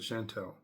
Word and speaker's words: Chantel: forgive Shantel Chantel um it's spelled Shantel but I believe she pronounces it Chantel um wonderful wonderful now